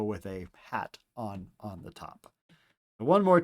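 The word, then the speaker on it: ἡ: This is pronounced ha here. So let's write out our omicron and then the rough breathing mark that makes that ha sound.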